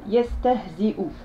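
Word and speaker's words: يستهزئ: Yastahzi'u. Donc ici, le support de la hamza est là et ne se prononce pas. Ce qui se prononce, c'est la hamza, donc la dhamma, c'est-à-dire le son ou.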